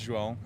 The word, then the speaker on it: João: My name is João. I'm Brazilian, so it's kind of hard to pronounce, but it's kind Juan? of like yeah, João. Juan. It's kind of like John. Oh, okay.